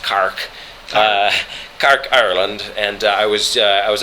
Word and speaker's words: Cork: I was in a pub in Cork, Ireland, pronounced Cark.